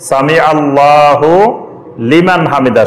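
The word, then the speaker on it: سمع الله لمن حمده: এটা হুলিমান ঠিকই আছে, এটার উচ্চারণ যখন একসাথে পড়বেন তখন এটা হুলিমানে হবে, সামি আল্লাহু লিমান হামিদা।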